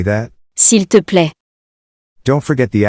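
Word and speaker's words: s'il te plaît: way to say please so we say that sill to play don't forget the accent on the eye as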